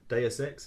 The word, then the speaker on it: Deus Ex: This week I've been playing Deus Ex, is that how you pronounce it?